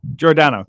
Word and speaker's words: Giordano: Giordano, correct, Giordano, Mike.